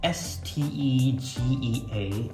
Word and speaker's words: Stagea: I don't know how you say it, but I don't know, some people say Stegea, some people say Stegea, I'm not sure, but it's pronounced Stegea if you're wondering.